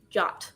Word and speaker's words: JWT: ultimate guide to using jwt in graphql um which by the way i've also heard pronounced jot i don't know what the linguistic motivations for that were but in case folks heard that around um and then we